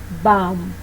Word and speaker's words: bomb: When the B is located after the M in the same syllable, it will be silent. Here are some samples. Bomb, climb.